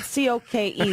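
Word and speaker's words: Koch: petroleum Coke and ironically it is owned as he spelled k-o-c-h it is spelled c-o-k-e like the like the drink but the company that is doing this is controlled by trials and David Coke wow k-o-c-h that's awesome yeah it's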